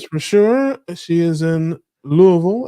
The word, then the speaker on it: Louisville: She is in Louisville, as they say, not Louisville, like some people would say. You got to say it like you have something stuck in your throat, like Louisville, like that.